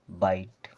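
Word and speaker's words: bite: ई इसे पढ़ना है बाइट इस प्रकार से अगर आई और ई आ र है तो उनका उच्चारण आपको करना है आई की तरह यह हो गया हमारा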